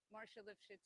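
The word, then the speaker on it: Marcia Lifshitz: Okay, and how's it pronounced again? Marsha Lifshitz.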